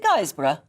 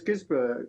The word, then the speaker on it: Guisborough: How should I say it? Is it Guisborough? No, it's Guisborough.